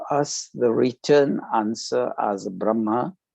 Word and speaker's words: Brahma: m double a because in hindi and sanskrit if you are single a it's silent that's why the first one b r h it's brah and then when we have to pronounce it a it's double a then it becomes brahma and the anagram of